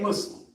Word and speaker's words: Muslim: The proper way to say what we are is Muslim. But you can't say Muslim or you won't say Muslim. It's Muslim.